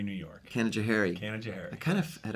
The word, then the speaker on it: Canajoharie: little town about 50 miles from here called Canajoharie New York Canajoharie Canadair I kind of had a feeling like